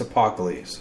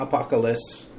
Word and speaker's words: Apocalypse: It's Apocalypse, not Apocalypse. Now, I do know you are Israeli, and and sometimes you rotate your accent to British.